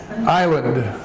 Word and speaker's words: island: meaning the ILO's the the letter I write here the letter I that is pronounced I as an I island the islands notice here